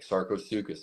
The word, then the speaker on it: Sarcosuchus: And obviously, kind of like Sarcosuchus.